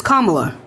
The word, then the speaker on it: Kamala: beat okay Ariah Samantha let's chill out it's kamla it's really not that deep you cannot be